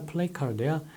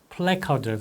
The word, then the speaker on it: 플래카드: 이게 플래카드야, 플레이카드야, 플래카드라고 생각하시면 돼요. 플레 다음에 카드잖아요.